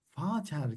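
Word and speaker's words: Vater: Mesela Fater kelimesini hatırlarsanız bu V harfiyle yazıyoruz ama ne diyoruz bakın? Fater.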